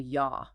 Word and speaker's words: yaw: That side-to-side rotation is called yaw. Rhymes with law.